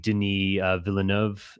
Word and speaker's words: Denis Villeneuve: And I think Denis Villeneuve, would that be the right way to pronounce his name? Denis Villeneuve, he's French, yes.